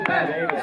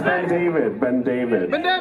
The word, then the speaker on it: BenDavid: It's actually BenDavid, so you're failing so bad. It's BenDavid. It's one word. Stop it. Wrong number of syllables.